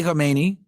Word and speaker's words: Khamenei: Because it's Khomeini with an O, right? This is the former supreme leader, right? He died in 1989, right? And then obviously Ali Khamenei, right, with an A. So it's pronounced a bit different.